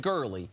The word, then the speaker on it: Gurley: always want to see Gurley rhymes with early moving on to the